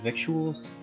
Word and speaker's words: victuals: Never heard the word vuals. Hey, Speedy. It's lingo out here on the trail. Doesn't look like it, but it rhymes with little.